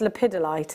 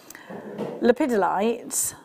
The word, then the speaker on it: lepidolite: pedi all right no it's lipidolite isn't it I always say it wrong Okay so lipidolite it's a stunning purple